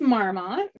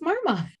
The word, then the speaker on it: Marmot: I'm like, no, it's Marmot. You do pronounce the T.